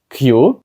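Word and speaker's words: queue: кажуть Q так ось Q п'ять літер вимовляється тільки одна Класно правда друзі я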